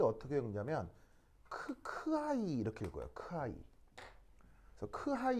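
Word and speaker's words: χ: 읽을 때 어떻게 읽냐면 크하이 이렇게 읽어요. 크하이. 그래서 크하이 이렇게 읽는데 이제 H가 거의 소리가 잘 안 들려서 카이 뭐 이렇게 이제 들리는 거죠.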